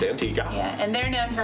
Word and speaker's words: Antigua: Antigua, which I did learn is pronounced Antigua.